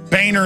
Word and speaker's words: Boehner: well you know he the name is German it's a nice name it's pronounced boner and he his whole life he even had ad campaign saying it's Boehner not boner hey if your if